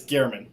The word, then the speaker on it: Germann: figure out what that is but are we pronouncing it correct is it German it's uh it's Gman but uh no that's a that's a funny